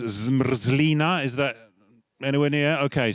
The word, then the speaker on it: zmrzlina: The pronunciation dictionary says zmrzlina. Is that anywhere near? Okay, so everyone, zmrzlina.